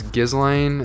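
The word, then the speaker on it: Ghislaine: told you this guess i think it's gizlane is how they say her name gizlane maxwell was his like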